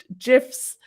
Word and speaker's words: GIF: the creator of gifts said that they should pronounce gifs and i make fun of everyone who pronounces